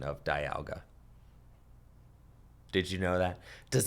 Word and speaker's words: Dialga: Having the Bidoof down means that if my opponent does go in with Origin Form Dialga VSTAR, then they can...